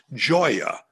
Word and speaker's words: Gioia: impossible uh italian surname it's very easy to pronounce it's joya means joy in italian but uh luckily on